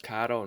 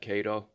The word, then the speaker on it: Kato: modeling HO scale kado it's pronounced kado not KO well the very first